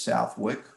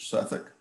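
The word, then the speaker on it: Southwick House: suffolk house it's spelled if you read it you'd say it's southwick but the british pronounce it suffolk this is was the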